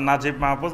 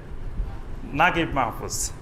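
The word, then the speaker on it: Naguib Mahfouz: উচ্চারণ হবে হানি ঠিক আরবেরা মিশরী লোকেরা লেখে নুন জিম জিম ইয়া বা নাজিব কিন্তু উচ্চারণ করে নাগিব এরকম আরবের বিভিন্ন আঞ্চলিক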